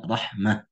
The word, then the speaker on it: Rahmah: atau Ta Marbun itu semuanya sepakat membacanya dengan H sesuai rosem ya maka dibaca Rahmah Nah di sini adalah